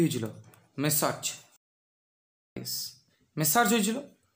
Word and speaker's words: Messrs: এর উচ্চারণটা কীরকম হবে? মেসার্জ। তাহলে মেসার্জ, দেখো মিস্টার, তার প্লুরাল ফর্ম কী হবে?